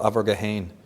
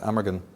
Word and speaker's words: Amergin: In Celtic tradition, one of the earliest poets of Ireland, the precursor to Merlin, was called Abergahain, or in English you pronounce it Amergin.